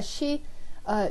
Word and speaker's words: Xie: It's pronounced She in Chinese.